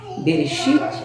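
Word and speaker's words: בְּרֵאשִׁית: terra esse versículo e na língua hebraica podemos pronunciar bereshit bará Elohim é que faz tamanho deve uma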